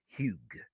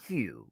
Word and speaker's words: Hugh: into the room is kim huge not hugh because the girls in america would have said hugh no baby huge the g is pronounced i was like ow